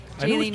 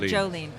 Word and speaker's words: Jaylene: Jaylene, not Jolene.